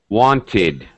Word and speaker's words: wanted: sound of the verb so every verb that ends with t or d that is the only time when we actually add a vowel sound I uh ID sound so want notice when we count syllables want wanted okay now it's two syllables wanted um so that